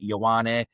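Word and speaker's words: Ioane: second name is spelled I O A N E pronounced Yawwani.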